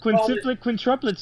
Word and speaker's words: quintuplets: quintuplets, you guys. Quintuplets, that's how you say it.